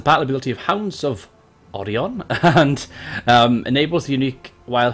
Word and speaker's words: Orion: Now, Orion is actually the name of this legendary lord, Orion, but me being the Welsh person that I